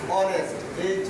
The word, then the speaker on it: honest: যেমন আমি একটি উদাহরণ দিচ্ছি এদিকে, ধরো অনেস্ট, HONEST, অনেস্ট, অনেস্ট ম্যান, মানে অনেস্ট ম্যান দিলাম। তাহলে এই জায়গা অনেস্ট, অনেস্ট এর উচ্চারণ কিন্তু হয় না। হয়েছে কিসের উচ্চারণ?